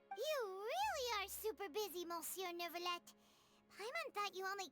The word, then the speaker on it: monsieur: But it's actually pronounced monsieur, the same way you would pronounce, like, Neuvillette, you know? Neuvillette, monsieur. So it's like, but why? Right? Why is there fucking O-N and you pronounce it monsieur?